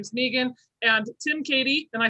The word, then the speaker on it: Keady: yes okay okay because well our spellings are similar but the pronunciations are way different so megan and katie don't forget that you